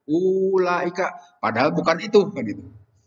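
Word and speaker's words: أولئك: Seperti ulaika itu. Kan di situ ada waw itu tapi tidak dibaca itu.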